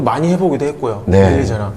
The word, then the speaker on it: Eliza: 해외 가면은 다른 거 나오잖아. 해외에서 뭐 하더라? 엘라이자. 일라이자. 해외 가니까 일라이자라고 일라이자. 해요. 그러니까 처음에 저희가 못 알아먹었어요. 못 알아먹어가지고 What? 우리는 계속 엘리자로 들었는데 네.